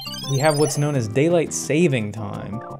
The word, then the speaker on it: daylight saving time: have what's known as daylight saving time which is mispronounced as daylight savings time it is not savings it is saving fun fact for all